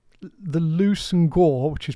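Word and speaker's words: Leveson-Gower: Well, so it's the Loose and Gore, which is pronounced Leverson Gower, the family that last owned it.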